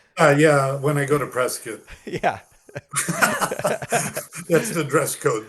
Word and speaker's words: Prescott: Um, that's further proof of how cowboyized they are that it's not Prescott, it's Prescuit.